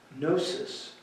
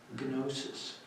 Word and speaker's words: gnosis: Another one is gnosis, spelled, there's a silent letter, gnosis.